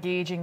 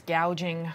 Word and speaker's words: gouging: Oh, Kamala, it's not gauging, it's gouging.